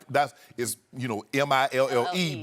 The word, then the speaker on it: Mille: that's is you know mi ll e but it's pronounced me I got it I